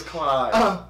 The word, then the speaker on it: KLY: comment section below man the pronunciation say Clyde it say ke Clyde it is Clyde cuz it R with fly yeah I'm too fly